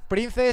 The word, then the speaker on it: Prnze: Prince se escribe raro sin i con Z. PRNZE.